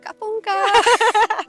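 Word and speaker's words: ขอบคุณค่ะ: Kapunka.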